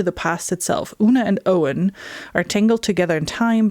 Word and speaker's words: Owen: Centuries later, Owen Mallory Owen Owen, that's how you pronounce his name.